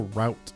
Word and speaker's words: route: I always say route. I've been trying to train myself to say route because I'm pretty sure route is the correct pronunciation. Route is R-O-O-T. It's like a plant, you know?